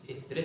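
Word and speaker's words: straight: جو ستريت، ستريت هنا الجي اتش ما بينطقوش، ستريت.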